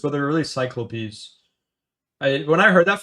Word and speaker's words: cyclopes: they're supposed to be called everyone's called them cyclopses but they're really cyclopes I when I heard that for the first time that blew my mind it's pronounced cyclopes I'm pretty sure plural Cyclops or cyclopes cyclopes